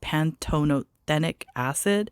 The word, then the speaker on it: pantothenic acid: I don't know how you pronounce it. It's pantothenic acid.